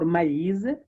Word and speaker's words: maïs: And this means that whenever this accent is used, you are supposed to pronounce the affected syllables or independently. For example, on the word Noël, Noël, or maïs, yeah, Noël, that is for Christmas, Noël, and maïs for maize.